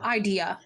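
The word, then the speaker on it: Eidyia: y i a idea oh idea like the the emphasis on the first syllable got it okay yeah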